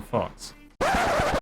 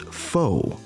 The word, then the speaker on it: Faux: I'm Fox. At this point, we must pause for a brief moment as we make a minor correction. The name of the character currently on screen is pronounced faux, which is a word of French origin dating